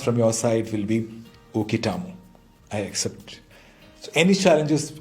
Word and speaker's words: uketamo: Pronounced as uketamo.